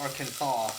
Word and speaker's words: Arkansas: She was like, "Why is it spelled R Kansas, but it's pronounced Arkansas?"